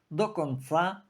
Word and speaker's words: до конца: і чудово знає що у російському вислові до конца наголос падає завжди на останній склад ніхто ніколи не говорив до канца А це означає панове